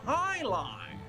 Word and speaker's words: jai alai: okay heck is jai-alai it's pronounced Highline what the heck is